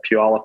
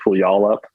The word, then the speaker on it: Puyallup: in a city called Puyallup Washington a lot of people will pronounce it pull you all up uh which is in